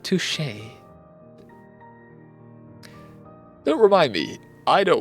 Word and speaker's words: touché: Instead, he said touchy. No, no, I think it's pronounced touché.